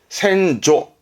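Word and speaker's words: 先祖: 발음은 소센, 소센인데 이거를 거꾸로 써요. 그럼 발음은 센조. 조심하세요. 센조가 됩니다. 이런 부분 이제 시험도 조심하실 겁니다. 센조. 의미는 같은 의미입니다. 조상으로 의미하는 보셔도 됩니다. 센조. 뒤에 발음 조심하세요.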